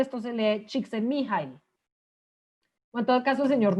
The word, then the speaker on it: Csikszentmihalyi: Pues yo sé que usted lo lee allá abajo y esto es un apellido impronunciable, esto se lee Csikszentmihalyi.